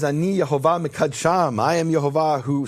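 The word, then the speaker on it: יְהֹוָה: Ki ani Yehovah Elohechem, for I am Yehovah your God, and you can't miss it. It has the full vowels. It says Yehovah.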